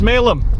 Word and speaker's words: Smailholm: look at smalem tower it's written smale home let's pronounce smalem there it is let's